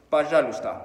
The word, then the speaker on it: Пожалуйста: Пожалуйста, por favor, пожалуйста. Ojo, deberías de ver cómo se escribe, porque se pronuncia de una manera diferente a la que se escribe.